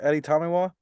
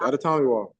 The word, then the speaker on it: Adetomiwa: First of all, am I pronouncing this right? Is it Adetomiwa? Perfect. Adetomiwa.